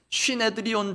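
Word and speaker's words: συνέδριον: 아마 많이 들어보셨을 것입니다 산헤드린 있니다 정확한 헬러 발음으로는 쉬해 드리온 됩니다이 공회로 번역된 단어가 문상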